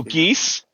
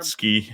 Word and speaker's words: Geske: No geese. No, get ski, like a T in there somehow slips in there. Geske. It's like guess where I left my keys.